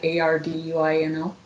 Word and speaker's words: Arduino: connected a three access unit to an uh Arduino? I don't know if I pronounced that right. Right. A R D U I N O.